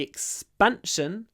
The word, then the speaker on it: expansion: becomes like X and now we have S before P so so the P becomes a b and we get expanion expan expansion expansion expansion expansion expansion with a B expansion expansion the expansion of